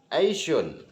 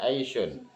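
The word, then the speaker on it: أيش: Fakola maka mengatakan siapa orang Aisyun itu asalnya ayusyai'in ya. Ayusyai'in bacanya Aisyun hada syar'u umuri dan istighfar.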